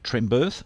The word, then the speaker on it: Trembearth: It's pronounced Earth, as in Earth. Birth, as in a ship birthing. So Barry J. Trembirth, and if you look him up, you'll get him on Facebook there.